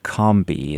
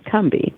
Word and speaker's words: Combahee: gate for your wonderful book I'm going to pronounce it Combi is that is that right it's a wonderful story about yeah that's correct you could comei or it's more of a you sound cby kby okay good wonderful uh your new book